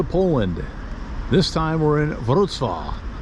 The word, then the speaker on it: Wrocław: This time we're in Wrocław, which is nothing like it's written as far as pronunciation goes.